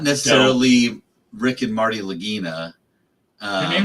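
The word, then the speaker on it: Lagina: necessarily Rick and Marty Lagginina. Um, their names are really Ricky Rick and Marty. Rick and Marty. Lagginina, spelled like vagina with an L at the beginning.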